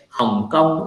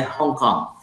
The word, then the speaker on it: Hong Kong: We don't say Hong Kong, it sounds like Vietnamese. We say Hong Kong.